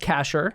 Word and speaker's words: Kashar: Last name's pronounced Kashar, and that's Kashar.